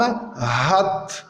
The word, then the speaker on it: hat: Le ha aspiré comme hat, verbe avoir conjugué à la 3e personne du singulier. Il a hat. Et on remarque que le ha, il est prononcé, donc c'est un ha aspiré.